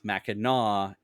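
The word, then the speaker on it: Mackinac: island itself and the surround uh it is pronounced maau after the town after maau city um ah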